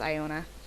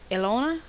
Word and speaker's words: Iona: I think that's pronounced Iona. Ilona? Iona. Iona it is.